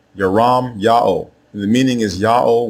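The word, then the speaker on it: ירמיהו: Both forms are pronounced the same way. There are not two different ways to say the prophet's name. The way you say his name is Yaram Ya'o. Yaram Ya'o.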